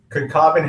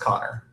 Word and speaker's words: Connor: on one second uh conin says you butchered my name it's pronounced Connor yeah we really messed up there yeah sorry sorry Connor um we'll go back